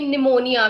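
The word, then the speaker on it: pneumonia: जैसे कि निमोनिया में पी यूज होता है आपका, बट पी साइलेंट हो जाता है, एन ही काउंट होता है निमोनिया।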